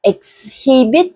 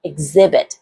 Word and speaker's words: exhibit: nữa đó là gì không phải là exhibit mà sẽ đc là exhibit trưng bày đó như vậy thì